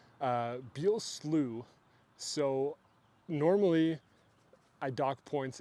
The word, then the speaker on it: Slough: Because I didn't want to pronounce it wrong, you know, like be slow or slow or whatever. He was like, no, it's Slooh.